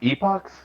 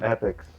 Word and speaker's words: Epochs: oh yeah all right it's pronounced epochs that was pronounced epics i thought we've had